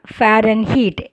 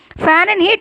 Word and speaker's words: Fahrenheit: heat the spelling is f a h r e n h e i t but you have to pronounce fahrenheit h is silent then and kelvin the